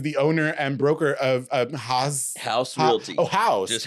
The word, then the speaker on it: Haus: He is the owner and broker of Haus Realty. Haus. Just Haus.